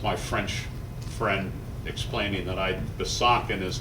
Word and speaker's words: Besançon: That's my French friend explaining that Besançon is not the way you pronounce Besançon.